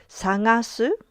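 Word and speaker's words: さがす: Let's talk about two Japanese words that sound exactly the same. Sagaseu They are pronounced identically, but they are written with different kanji.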